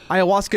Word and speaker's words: ayahuasca: do you pronounce Ayahuasca it's like Hiawatha Ayahuasca and then what kind